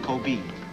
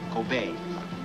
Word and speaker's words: Kobe: right here Kobe gopher hmm it is not pronounced Kobe it is pronounced obey the e is pronounced aid excuse me thank